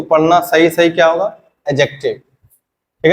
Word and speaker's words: adjective: बीच में जो डी आता है उसमें डी साइलेंट पढ़ जाता या कि इसको पढ़ना सही सही क्या होगा एडजेक्टिव ठीक है ए और जे के बीच में